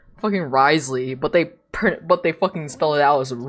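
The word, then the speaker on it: Wriothesley: they spell it out as R orley but it's Risley like what the why is there W in there what do you mean it's pronounced Risley like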